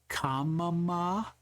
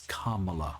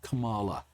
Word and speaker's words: Kamala: You're allowed to tell your child, "No, you've mispronounced it. It's Kamala or Kamala." She says it both ways, so don't hang me on this one.